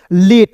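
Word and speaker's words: late: fake L ए टी ई तो एल का दोस्तों ल लिखते हैं टी का ट लिखते हैं अंतिम में इ है तो एक के लिए लगाएंगे लेट है ना जी सिंपल बी ए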